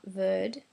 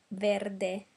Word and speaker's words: verde: The other thing we need to keep in mind is that we pronounce the last E of every word. So it's not verde, it's verde, sempre, serpente.